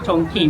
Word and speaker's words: Chongqing: Dia Chongqing lah.